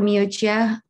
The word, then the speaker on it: Miucia: And also for Miucia, untuk her itu sekolah dan jurusan untuk apa dia mau ambil nanti. How do you pronounce her name again? Miucia. Miucia. You read what you write.